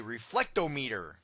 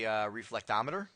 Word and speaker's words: reflectometer: a time domain and different people pronounce this last word differently for the fun of it i like to say reflect ohmmeter but i think most people would say reflectometer ok or tdr and